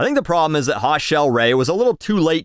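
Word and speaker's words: Hot Chelle Rae: tonight tonight in 2019 hot shell Ray tweeted how many Michelle's out there have had to shed some light on how to pronounce our name to people who say hot chili Ray and I think it's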